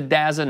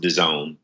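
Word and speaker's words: DAZN: is gonna buy into dasn't or is it gonna take a while well I believe it's pronounced 'da zone and to answer your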